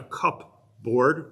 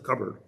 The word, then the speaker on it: cupboard: It's not a cupboard, the way it's spelled, it's a cupboard. So the P and the B assimilated to each other.